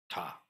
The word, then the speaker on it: 多: Hangul you know that this uh is written as a DA but it's pronounced TA in this case uh and uh it